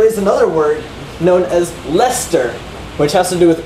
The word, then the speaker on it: Leicester: So Leicester, like the name, like Lester Holt, is not in the dictionary.